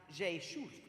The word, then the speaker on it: Rzeszów: It's R-Z-E-S-Z-O-W, but pronounced Rzeszów.